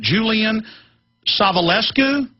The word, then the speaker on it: Julian Savulescu: I still can't remember how to pronounce it. Julian Savulescu?